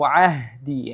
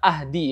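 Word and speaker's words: عهدي: Qala la yanalu ahdi ya. Kalimat ahdi atau kata ahdi. Di sini ada huruf ain ya.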